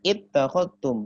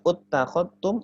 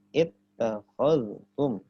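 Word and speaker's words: اتخذتم: Jadi bacanya ittakhadtum, bukan uttakhadtum atau attakhadtum, tapi ittakhadtum.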